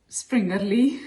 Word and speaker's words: Springerle: springerly cookies yes how do you say springerly springerly very good it is actually a really simple